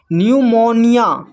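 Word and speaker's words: pneumonia: फिर नेक्स्ट देखिए यहां पर पी एन यहां पर भी पी एन भी अगर एक साथ रहे तो पी साइलेंट होता है। तो इसको पढ़ते हैं। न्यूमोनिया न्यूमोनिया। फिर है न्यूमेटिक।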